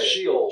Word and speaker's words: Sheol: He refers to Sheol, right? How do you say it? Sheol.